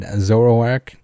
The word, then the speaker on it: Zoroark: pronounce zoroark they are adamant that is properly pronounced k so rourke or zoro k whereas i'd always say said zoroark my kid brother had a pretty official pokedex